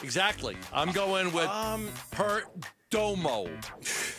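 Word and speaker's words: Perdomo: I'm going with um Peromo. Not Pgermo.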